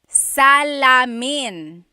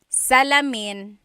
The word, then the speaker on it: salamin: Mirror in Tagalog is salamin. Salamin. Salamin. Oh, very close. Very good. Uh, driving said bentana. Bintana is actually window. So, Salamin is the mirror.